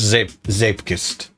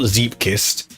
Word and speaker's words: Zeepkist: um I'm pretty sure it's zip zepist because remember it's not zip kissed which is what you usually think it's going to be.